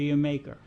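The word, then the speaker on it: D'yer Mak'er: any preference well the the song everybody pronounces in all different ways D with an apostrophe y r m a k prostop is is like a quick and dirty pronunciation of the word Jamaica oh okay and after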